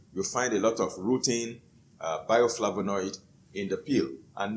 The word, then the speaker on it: rutin: It is spelled R-U-T-I-N, rutin.